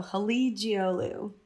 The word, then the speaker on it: Halıcıoğlu: The C is a G and the G is silent. So Halıcıoğlu. Halıcıoğlu.